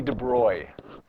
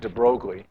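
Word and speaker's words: de Broglie: very very briefly about a guy named Louie de Bry it's pronounced de it looks like de brogle L de Bry took some Physics that Albert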